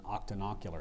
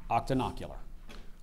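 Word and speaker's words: octonocular: and even eyeless spiders the tarantula is an Octan ular spider the atmology is the word consists of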